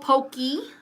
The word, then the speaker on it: poke: to pronounce it okay it's spelled Pokey but it's poke at least what the Chinese guy told me okay it